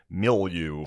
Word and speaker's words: milieu: I read beyond my fucking my milieu.